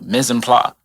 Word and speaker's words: mise en place: So mise en place is how you say it.